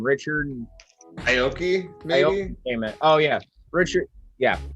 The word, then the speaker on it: Aoki: know how to say this guy's name richard aoki amen oh yeah richard yeah that's how you say it richard aoki came in the japanese brother who gave he